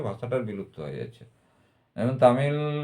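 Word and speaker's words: தமிழ்: এরপর তামিল, তামিল তামিলের লটা, শেষের লটা কিন্তু ল নয়, এল এল উচ্চারণ নয়, ওটা এলের যে উচ্চারণ সেটা নয়, সেটা অর্ডার কাছাকাছি হচ্ছে তামিল।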